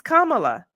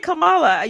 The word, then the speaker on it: Kamala: saying I was Fletcher can you please say her name right that does drive me crazy all right go ahead it's Kamala what nah stop saying Camala you and Candace Owens